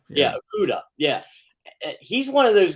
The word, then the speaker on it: Okudah: And their number 3 overall pick last year, Jeff, I can never pronounce his last name. Okudah. Yeah, Okudah.